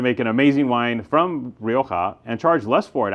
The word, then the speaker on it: Rioja: together and making a Rioa, which we love Rioa. You know, we love Rioa around here. We uh as the British say, Rioa.